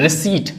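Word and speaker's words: receipt: रिसीट इसमें पी हमारा गायब है। इसमें हमारा पी गायब है।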